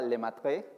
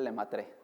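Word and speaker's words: Lemaître: apellida, si alguien sabe francés, creo que se pronunciaba Lemaitre, algo por el estilo, pero vamos a decirle Lemaitre, así, ¿no?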